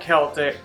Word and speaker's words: Celtic: I think from the area actually told us it was Celtic. So we're going with Celtic.